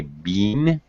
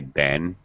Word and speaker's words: been: likely for a british speaker to say bean uh as an american i always say ben uh i use a more reduced uh i use the schwa sound uh well well a more reduced pronunciation uh definitely for my